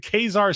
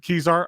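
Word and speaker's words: Kezar: NPSL final took took place in Khazar Stadium. Joshua Duter has talked about the stadium for as long as I've known him. Always want Kizar.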